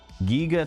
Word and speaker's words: Giger: Giger to rhyme with eager.